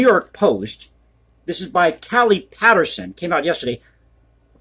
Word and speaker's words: Callie: This is by Callie Patterson. Came out yesterday. I believe that's how you pronounce her first name.